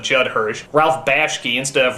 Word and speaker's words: Judd Hirsch: never quite pronounce correctly like judge Hirsch instead of Judd Hirsch Ralph Bosch key instead